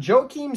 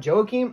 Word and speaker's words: Joaquim: saruki and taking on Joe Keem Silva I believe that's how you pronounce it I know it looks like Joaquin but I've heard the commentators call it Joakim I don't know if